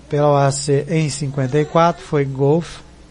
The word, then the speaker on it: Golf: Aprovado pela OAC em 54 foi Golf. E pelo segundo teste canadense permaneceu Golf. Então a pronúncia mais provável, tom mais forte, Go. Como se fosse Go Off.